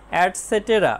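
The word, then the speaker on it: et cetera: project work প্রকল্প কাজ ইটিসি এর উচ্চারণ হবে অ্যাডসেটেরা মানে ইত্যাদি ইন মানে ভিতরে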